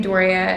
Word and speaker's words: Doria: my channel name is just my first name doria and then my middle name eve so it's